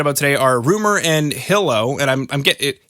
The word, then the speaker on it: Hilow: it's in my head it's supposed to be pronounced hi-lo because i just set up the word merged